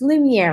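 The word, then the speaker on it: Lumière: This one's from Beauty and the Beast, and this is Lumiere. He is the candlestick. So there are people that live, okay, and if I say his name wrong, it's Lumiere, right?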